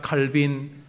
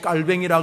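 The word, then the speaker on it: Calvin: 탁월한 어른 존 칼빈, 이 사람 불어 발음으로 깔뱅이라 그래서 사람들이 칼빈이란 말 싫어하는데 뭐 칼빈이든 깔뱅이든 이 어른이 이런 말을 했습니다.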